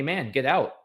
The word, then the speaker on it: mangetout: And that it's actually a kind of pea pod, I would probably pronounce it uh mangetout?